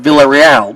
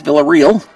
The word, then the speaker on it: Villarreal: They pronounced Villarreal, but it's Villarreal.